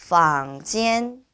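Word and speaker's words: 房间: 보도록 하겠습니다 2번 방입니다네 방은 방지엔 방지엔이라고 발음해 주시면 되고요네이 방지엔 빵즈 우리 아들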